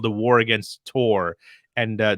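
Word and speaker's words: Chtorr: called the war against tor and the tour is spelled c-h-t-o-r-r and it's basically about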